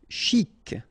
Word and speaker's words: chic: Chic. Okay, you pronounce the final C, and then CH together, sh, chic.